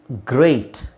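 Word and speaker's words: great: ಏ ಕಾರ ದೀರ್ಘ ಎ ಗ್ರೇಟ್ ಬ್ರೇಕ್ stake so ಇದರ ಉಚ್ಚಾರಣೆ ಎ ಅಂದ್ರೆ ಎ ಐ ಬಂದಾಗ ಏನು ಬರುತ್ತೆ ಎ ಐ ಎ ಐ ಬಂದಾಗ ಏನು ಸೌಂಡ್ ಬರುತ್ತೆ ಅದೇ ಸೌಂಡ್ ಬರುತ್ತೆ A stake ಬ್ರೇಕ್ ಗ್ರೇಟ್ ಸೊ ಈ ಮೂರು ಪದ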